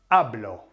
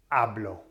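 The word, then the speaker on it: hablo: say I speak right that's ablo ablo so why because it ends with o therefore it's the nose rule okay so the emphasis falls on the second last vowel which is the a so it goes yeah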